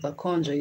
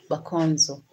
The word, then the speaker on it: Bakonzo: Bakonjo. Bakonzo. They call them Bakonzo. But Bakonjo is not the way they pronounce it. Bakonzo.